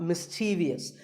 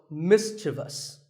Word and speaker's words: mischievous: in the word mischievous this is not mischievous there is no I after the V the last syllable is just V so mischievous and then there are words